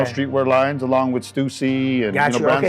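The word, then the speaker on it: Stüssy: and then Stussy right stucy stucy my bad yeah it's pronounced stucy my oh you know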